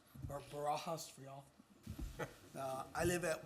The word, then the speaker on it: Barajas: I'll make you say it like my coach, Barajas. Got it. So it's, State I'm your- part of Helotes. Go ahead and state your name and Barajas, or Barajas for y'all.